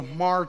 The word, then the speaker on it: Hmar: who are known as the mar tribe that's spelled hmar the hamar tribe we're from a very